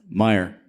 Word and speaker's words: Meijer: So when you go to a specific store here in town, how do you pronounce that store's name? Don't forget this. Meijer.